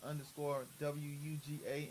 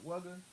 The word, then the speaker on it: Wuga: Beats with a Z_ore by Wu Ga. And it's actually Wuga, not Wugger.